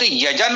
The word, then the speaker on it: यज्ञ: हाँ, एक तो थोड़ा ये प्रयास करें, शब्द यजन है या यज्ञ है, क्या है गा नहीं है।